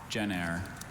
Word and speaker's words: gener: Gener. Gener. Gener, may I have the definition? In Roman and civil law, it means son-in-law. Gener.